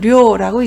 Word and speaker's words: 両: 음독은 료라고 있습니다. 환전을 료가에라고 하고요. 양친 부모를 료싱이라고 합니다. 그리고 양쪽 쌍방을 료호라고 읽습니다.